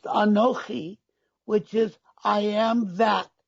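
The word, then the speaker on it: אנכי: another expression of the word ani it is pronounced anoki which is i am that which brought you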